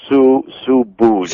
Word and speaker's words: Subud: sect, which is Subud, S-U-B-U-D. That's how that's pronounced as well? I've been saying... Subud. It's like S-O-E-B-O-O-D is how you say it. Let me write that down. Subud.